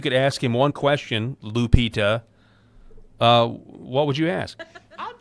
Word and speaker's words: Lupita: Lupita. Lupita.